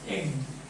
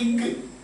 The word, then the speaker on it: egg: Egg. E, written E-G-G, but you pronounce it as egg. A, B, C, D, E, but this is not E, ig. Do you say ig?